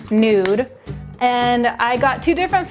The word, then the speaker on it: Nud: It's N-U-D, it's pronounced Nude.